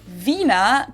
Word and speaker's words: Wiener: In German, we say vina. The German W is pronounced like an English v.